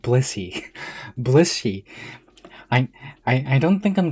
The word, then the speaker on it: Blissey: It sounds like I'm saying Bussy, but I swear I'm saying Blissey.